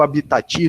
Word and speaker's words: habitat: é aqui que eu habitat tu que o hábito então a gente vai falar habita esse último esse último t tu é mudo quando habitat senão vou